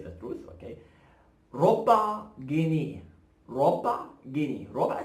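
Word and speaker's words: جنيه: Make sure to pronounce it right. Gneeh. Say it. We're gonna pronounce it fast. Gneeh. Gneeh. Gneeh. I never close my lips, okay?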